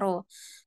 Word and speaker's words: rho: adalah R rho ya Nah ini lambangnya adalah rho bacanya rho nah seperti rxy tadi maka korelasi rho ini